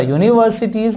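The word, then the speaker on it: universities: यूनिवर्सिटीज, अब देखिए मैंने आपसे बोला था यूनिवर्सिटीज में य का साउंड आ रहा है, हालांकि ये यू वॉवेल ही है, लेकिन इसका प्रोनाउंसिएशन अगर आप देखोगे तो प्रोनाउंसिएशन में ये साउंड य देता है।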